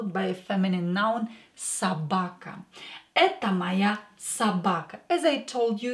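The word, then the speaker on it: собака: to change it but this o is not stressed so pronounce it as a garage again or not stressed pronounce it as a Sabaka Sabaka and let's add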